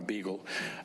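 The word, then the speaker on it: Beegle: Her last name is spelled with all E's. Of course, there's a B, a G, and an L, but it's B-E-E-G-L-E, Dr. Donna Beagle.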